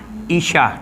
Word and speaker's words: Aisyah: Maria contohnya macam Aisyah lah, kalau Aisyah dia patutnya kalau Isyah, kena sebut Isyah.